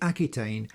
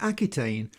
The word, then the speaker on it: Aquitaine: The Chet becomes a Q, which in the name Aquitaine even today is pronounced as a hard K.